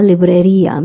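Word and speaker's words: librería: you earlier la liia there's an accent on the I so I'm going to stress on the I and will become la liia means stationary la biblote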